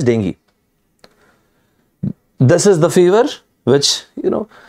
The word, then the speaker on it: dengue: The number of people diagnosed with dengue, the exact pronunciation as I said is dengue.